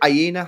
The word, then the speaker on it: Aina: Worrell and is it Aina? How you say his name? Yeah, I- Aina. Yeah, Aina.